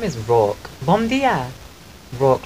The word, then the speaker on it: Rourke: How do you pronounce Rourke? Rourke.